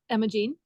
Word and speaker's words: Imogene: Imogene. Uh-huh. Just Imogene. And so it has that word gene in it.